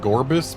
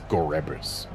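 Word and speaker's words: Gorebyss: least there's that also I would pronounce it gorbis but I'm pretty sure the official pronunciation in Pokedex 3D Pro was gorus vile plume we do not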